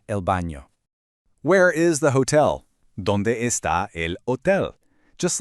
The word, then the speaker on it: hotel: Where is the hotel? ¿Dónde está el hotel? Just like in hola, the H in hotel is completely silent.